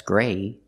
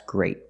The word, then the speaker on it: great: That's great. Not that's gray, that's great. Use a stop T.